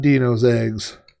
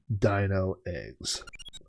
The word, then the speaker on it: Dino Eggs: at a game that i mispronounced for 30 years and it's not dino's eggs obviously it is dino eggs all right and look